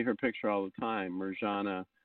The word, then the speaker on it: Mirjana: You see her picture all the time, Mirjana, or it would be pronounced more Marianne, but Mirjana Soldo, I think is her name now.